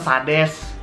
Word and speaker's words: Sades: Gimana ngomong Sadis ya? Sadis. Gak, ini padahal Sades. Oh Sades. Sades, tapi kayak dibacanya tuh bagusnya tuh Sadis.